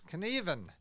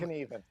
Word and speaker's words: Knueven: It's Knueven. There you go. You Even don't, Knueven. you don't pronounce the U.